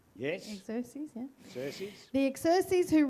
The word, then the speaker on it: Xerxes: Xerxes, yeah.